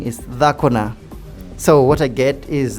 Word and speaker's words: dhako: But if I try to say whatever he's saying is Dhakona. So what I get is that for a woman, the word woman in Luo of Kenya is dhako, D-H-A-K-O, while for Langi it's dako, D-A-K-O.